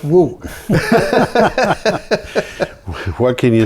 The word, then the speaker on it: Ng: in college yeah and he spelled his name NG well he pronounced it woo and later on I